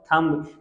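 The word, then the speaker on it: thumb: उसके बाद थम्ब, थम्ब नहीं होता, दिस कॉल्ड थम्ब। वैसे ब्रिटिश और अमेरिकन प्रोनाउंसिएशन सम, सम, सम।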